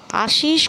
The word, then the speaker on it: আশিস: আশুতোষ না, বিপাশা, আশিস কুমার মুখোপাধ্যায়। যতীন দাসের জন্ম হয়েছিল 1904 সালে 27 অক্টোবর উত্তর কলকাতার সিকদার।